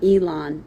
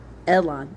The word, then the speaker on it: Elon: Uh Ibzan, Elon, and Abdon. Ibzan, I B Z A N. Elon, E L O N. Kind of like Elon. Okay. Uh actually we'll say it that way. Elon.